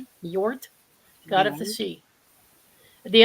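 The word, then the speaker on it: Njord: lakes connected to now can you pronounce this Nord NJ o r d god of the sea Nord god of the sea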